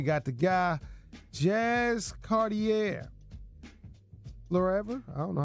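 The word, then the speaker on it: Fleurever: Florever? I don't know how you pronounce that. What is it? Florever? Fluever? Oh, okay. Fluever.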